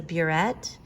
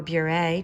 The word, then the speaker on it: burette: The major components of a titration is a burette, or a burette, depending on whose pronunciation, and a flask that you're going to put your unknown substance in.